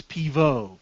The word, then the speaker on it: Pivot: he goes damn it it's spelled pivot but he's French so it's poo yes and uh the